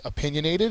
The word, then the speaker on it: opinionated: opinionated is an adjective it's the second syllable that is accented it means having a